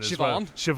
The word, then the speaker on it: Siobhan: Siobhan.